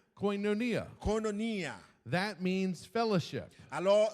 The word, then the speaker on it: koinonia: This is the Greek pronunciation. Alors, c'est yon mot grec, m'a juste répété ça le dire parce que c'est pour gens le prononcer. Hein. Koinonia. C'est koinonia. Koinonia.